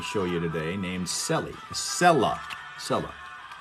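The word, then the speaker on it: Cella: Sella. They spell it C-E-L-L-A.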